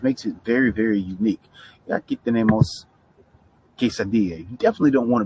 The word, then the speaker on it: quesadilla: gotta make sure you remember that quesadilla two l's make a y sound right quesadilla okay all